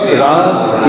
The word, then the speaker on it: Ram: Rama, Ram, yeah, it is Ram. Even when you say Ram, it is two syllables. It's not one syllable.